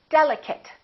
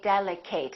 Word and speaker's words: delicate: nouns and some adjectives delicate don't say delek Kate that's a very common mistake chocolate a lot of